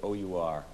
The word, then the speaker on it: our: Must make very careful pronunciation whenever you come across the word O-U-R, our. Don't say R as in our hearts, our hearts.